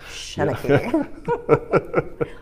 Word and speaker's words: Shanachie: I was like, I want to make a shirt that says it's pronounced Shanachie.